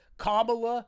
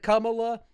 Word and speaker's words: Kamala: channel would yell at me for saying, what, Kamala instead of Kamala.